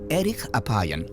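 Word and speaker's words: ארך אפים: hace mucho más interesante en hebreo la frase lento para la ira se pronuncia Eric Apan literalmente de larga nariz Pero qué tiene que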